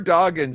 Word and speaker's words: Dodgen: That's how you pronounce his name, right? Yes, good job. You finally All got right. it. Yay. Drew Dodgens says.